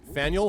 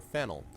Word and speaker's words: Faneuil: Don't let the French spelling confuse you. The name of this building is pronounced Faneuil or Fanel. Getting it wrong is a good way to indicate you're not from around here.